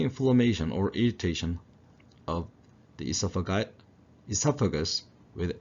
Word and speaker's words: esophagus: 발음 같습니다. 그래서 영국식은 esophagus, O가 하나 앞에 붙고 미국식은 그 O 빼고 esophagus. 그 발음에 좀 더 충실한 것이 미국식이라고 생각하시면 되겠어요. 발음은 영국식, 미국식 동일하고 강세도 모두 이음절의 강세가 있습니다.